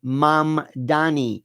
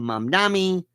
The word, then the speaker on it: Mamdani: His name is Zoran Mamdani, and nobody can pronounce his name. The people running call him Mandami.